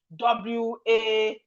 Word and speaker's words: was: No, I will write WOZ, was, if I'm using the sound to decode it. But as you can see, this is the spelling WAS. WAS is not WOZ, no. But the pronunciation is was.